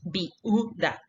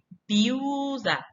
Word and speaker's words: viuda: La palabra viuda, viuda, tiene dos sílabas nada más. No decimos viuda, decimos viuda. Si se fija, la separación silábica atiende mucho al sonido.